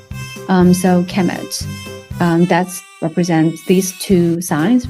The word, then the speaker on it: Kemet: will be, the noun will be pronounced Kemet. So Egyptians, the writing system have signs that present sound and signs that present meaning. So in this case, sound, Kemet, is represented by this sign.